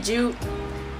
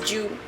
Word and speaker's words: Ju: My name's really Ju. In case people are confused with how it's pronounced, it's Ju, like J-U. Except it's G-A-U.